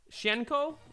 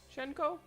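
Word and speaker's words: Hsien-Ko: Fort Gauntlet we have shenko I'm pretty sure is how it's pronounced shenko also from darkstalk also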